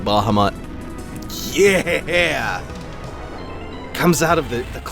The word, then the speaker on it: Bahamut: I'm sure I'm annoying some people the way I'm pronouncing Bahamut. I think it's supposed to be Bahamut. I've always said Bahamut.